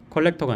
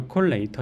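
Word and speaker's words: collator: 그렇게 작업해 준 거고요 제 발음 조심해야겠네요 컬렉터가 아니라 컬레이터 있니다 어 그러고 그다음에 이밸류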